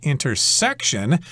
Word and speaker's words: intersection: word section intersection but most people in everyday conversation will emphasize the first syllable it's at the intersection of Oak Street and